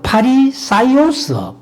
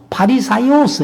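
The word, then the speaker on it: Φαρισαῖος: 그래서 이제이 바리새인들라고 얘기하는 우리 성경에는 바리새인 이렇게 했는데 어 헬라 원어로는 발음 그대로 하면은 파라 파리사이오스 파리사이오스 이렇게 이제 어 얘기를 합니다.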